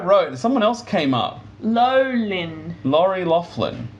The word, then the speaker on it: Loughlin: Is that how you say It's Loughlin. That's what I wrote. Someone else came up. Lolin.